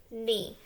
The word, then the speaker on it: knee: knack knock knock no known not knit nice knee so we've only worked with one of our silent letter combinations but still we can clearly see